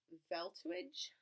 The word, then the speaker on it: Velthuijs: called frog in love by Max deltaj that's how you say his name but what animal do